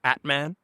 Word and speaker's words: Aatman: The way I tell everyone to pronounce it is like Batman with no B. So just Aatman.